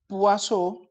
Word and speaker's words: Poisson: llamar distribución d wason se escribe poison pero realmente la forma de interpretarlo sería cubo azul vamos a llamarlo distribución d es un nombre en francés realmente es acá se pronunciase huaso por ser un nombre